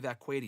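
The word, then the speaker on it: Vaquer: and when she was last in the um and Richie said that's Stephanie Vqua you RJ by the way as Nikki Bella said a couple weeks ago on Raw.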